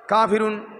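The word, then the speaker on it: ق: করে উচ্চারণ করতে হবে কাফ পাতলা করে কফ মোটা করে এই সূরার মধ্যে কফ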